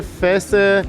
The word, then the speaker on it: فاس: یه بار میگم فس این به خاطر اینه که توی فارسی و عربی فاس می‌نویسن ولی این آی ما رو عربا به صورت آ تلفظ نمیکنن تو اکثر کشورا به صورت ا تلفظ می‌کنن میکنن فس بعد حالا همین فس